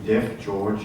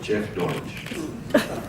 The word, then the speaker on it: Jeff George: very important meeting and he brought my name wrong you called me deaf George instead of Jeff George and if I repeated